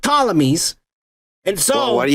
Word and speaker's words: Ptolemy: and Macedonian from the family called Ptolemy, with a P in the front. I don't know why they put a P if you don't even fucking pronounce it, you dumb motherfuckers. But Ptolemies.